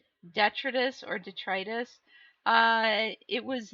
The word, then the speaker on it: detritus: It's the second, the long I in the middle, detritus.